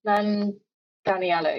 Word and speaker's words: Manganiello: Joe Manganiello? That's the one. Manganiello.